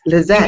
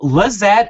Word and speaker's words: Lizette: Lizette. It is Lizette? Okay, I am right. It's like Josette, but Lizette. Okay, well, Lizette, I love you.